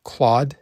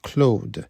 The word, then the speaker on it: Claude: should not be pronounced Claude? It's a name. It's a French name. It's pronounced Claude, just like the great Claude Lemieux.